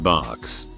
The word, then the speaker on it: Barq's: My favorite root beer is Barq's. Has been since I can remember. I pronounced it bugs because of the font until I was 22.